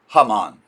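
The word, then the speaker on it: Haman: They say that he his name comes from the villain in the biblical book of Esther whose name in Hebrew is Hammon.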